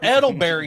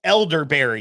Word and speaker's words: elderberry: because that's the thing i don't think it's how that's pronounced edelberry is it edelberry okay elderberry tibby elderberry elder edelberg yeah elderberry that's what i mean that's what i meant yeah oh gosh i'm gonna eat this 92.